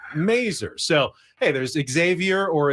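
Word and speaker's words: Masur: There was Andy Mazer, who was the Padres broadcaster, but he didn't pronounce it Major. He pronounced it Mazer.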